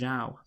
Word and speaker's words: Zhao: So this is Zhao. Yeah, that is. I get. Yeah, because I think I've heard that. Yeah, it can be pronounced Zhou. Yeah, Guan Yu Zhou, but this is Zhao.